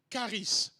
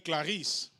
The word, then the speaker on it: charis: Le premier mot important qu'il faut retenir lorsqu'on parle de la grâce, c'est charis. Charis. Je n'ai pas dit Clarisse. J'ai dit charis. Charis, ça s'écrit C-H-A-R-I-S. Charis. Charis.